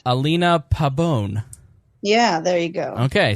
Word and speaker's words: Pabon: Alina, pretend there's an E at the end. Alina Pabon.